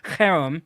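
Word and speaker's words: חרם: little bit of Hebrew, so I'm telling you harem. So I mean, if you want me to spell it for you, I will. Please. Spell it. Just real quick, spell it. CHEREM. So harem.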